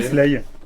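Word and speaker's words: Slae: Voilà, ça se prononce Slay, mais ça s'écrit S-L-A-E.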